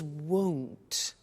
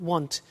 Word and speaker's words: won't: before you heard me with the money is won't be careful with the pronunciation it's not want its world so the example is I won't